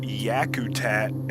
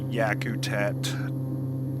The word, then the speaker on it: Yakutat: about the destination here I believe it's pronounced Yakutat Airport spelled why is it